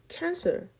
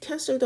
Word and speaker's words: cancel: 그러니까 얘는 이 C가 E나 I나 Y 앞에 오면 이게 시읒 소리가 납니다.